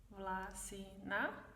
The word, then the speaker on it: Vlasina: Vlasina, first syllable, Vlasina.